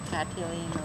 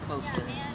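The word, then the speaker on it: cotillion: some people pronounce it Cilan or whatever I say Coan cuz it's not just one it's got to be Co like you got to put the emphasis on the co it's like co-host you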